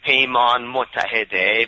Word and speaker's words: Paymon: payman yes I am that's okay pay on but I prefer people call me payon it's a lot easier